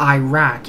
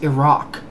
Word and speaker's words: Iraq: can barely pronounce it no it's not iran it's iran just like it's not iraq it's iraq uh i know how